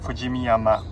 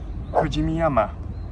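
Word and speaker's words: 富士見山: Fujimiyama. Sounds a lot like Fujiyama, the Japanese name of Mount Fuji, mispronounced by lots of non-Japanese.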